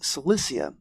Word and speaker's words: Cilicia: classical history may know the region best as Cilicia, or with the Greek pronunciation Kilikia, home to the famous Cilician Gates,